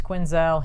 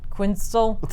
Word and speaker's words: Quinzel: gets her name wrong she's like it's quinzelle he calls her like quits quinstal something like that sounds like a pastry right it is a